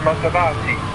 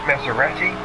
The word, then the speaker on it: Maserati: And it's pronounced Maserati, not Maserati.